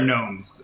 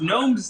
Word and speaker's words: gnomes: think it's the underwear gnomes uh who take them so that that plays in really well because gnomes does start with a g and uh you don't pronounce it so yeah it's amazing